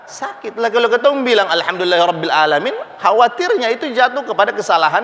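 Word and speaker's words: العالمين: Ain itu kalau tenggorokan hurufnya keluar dari mana? Paling bawah, tengah ke atas, ain. Tengah, ya. Huruf ain keluar dari tengah tenggorokan. Ada yang bacanya alamin. Kalau alamin berarti dia keluarnya dari pangkal, dari paling bawah, huruf A. Khawatir alamin nanti diambil dari kata alam lagi.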